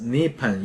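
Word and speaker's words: 日本: Word Japan pronounced as Nippon in Japanese. Nippon is a lucky word, ranked third, luckier than those general and bad.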